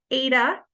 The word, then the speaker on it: eta: using this guy here which is pronounced Ada ETA Ada squared so what did we